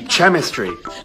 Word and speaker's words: chemistry: when it's noten French what sound does this make the CH sound which means this word is it'd be chemistry chemistry you don't see how just because the H is there doesn't mean it wants to be part of the word mhm but when the